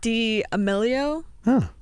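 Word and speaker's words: D'Amelio: wrong like i mean that's kind of the italian way to say it d emilio i thought it was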